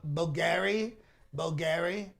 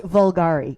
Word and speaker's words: Bulgari: Bulgari? Is that it? Is that one of the names? I think it's pronounced Vulgari. Vulgari, that's right.